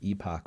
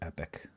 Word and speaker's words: epoch: of something yeah though there is some confusion whether it's pronounced Epoch or epic I think I think either is actually valid okay I would get